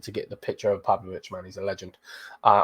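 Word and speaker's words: Pavlović: with uh pav again oh I spot his name wrong pavic uh there he is again come on come on lineup Builder you need to get the picture of pavlovich man he's a legend uh or will be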